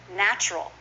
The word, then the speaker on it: natural: that with me traveling natural is often natural just two syllables try that with me